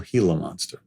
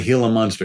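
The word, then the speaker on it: Gila monster: people know what a heal a monster is or the fact that it actually is spelled with a G pronounced as an h and the heila monster is a reptile that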